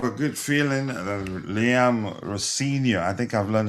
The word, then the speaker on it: Rosinha: Rosin, you got to use Z. Is it Z, Rosin, not S? Rosinha. Z. Well, Z. I say Yeah, Z. that's Rosinha. Yeah, Rosinia. Yeah.